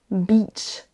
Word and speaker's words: beach: même dans la durée, la longueur de la syllabe. Donc attention, si vous voulez dire la plage, dites bien beach, beach.